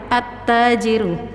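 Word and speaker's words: التاجر: Alnya tidak dibaca sukun tapi langsung direbul ke huruf syamsiyah itu ya ta, at-tajiru. Terasa ya bahwa lamnya itu tidak dibaca, yaitu lamnya tidak dibaca sukun tapi dilebur ke huruf setelahnya.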